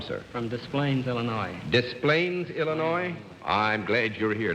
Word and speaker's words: Des Plaines: Des Plaines, Illinois? I'm glad you're here. Now I know how to pronounce that name and not get my skull